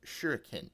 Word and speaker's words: shuriken: Now Espo being the ninja weeb that he is pops up out of nowhere and says actually it's pronounced shuriken Amy.